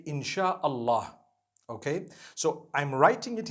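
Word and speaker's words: Insya Allah: They pronounce the S-Y the way we pronounce S-H. So they can write it how they want for as long as when people read it, they read it Insha'Allah.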